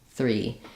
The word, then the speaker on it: three: the th combin combination some people find it helpful to start with the r just saying re and then sneak your tongue forward for the th re 3 three if I start with